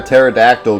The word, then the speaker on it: pterodactyl: can't you hear a pterodactyl go to the bathroom because the P is silent heard that many times